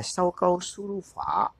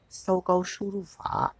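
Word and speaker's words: 搜狗输入法: Tiếng Trung đọc là Sâu Câu Su Ru Phở. Sâu Câu Su Ru Phở.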